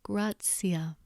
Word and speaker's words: gratia: T is pronounced T as in toast, unless it's followed by I, then it's pronounced as tsi, for example, tua, but gratia.